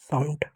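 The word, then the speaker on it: sound: आ की मात्रा और ऊ एन का क्या पढ़ेंगे आधा न और डी का ड हो गया साउंड अब बच्चे पूछेंगे आपने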